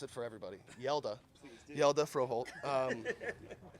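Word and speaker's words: Hjalte Froholdt: Yelda Froholt. Yeah, the HJ, it makes a yeah.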